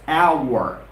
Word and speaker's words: hour: pronunciation of the word the h-o-u-r and I want you people to repeat after me it's not however it's not a word it's our our our our our our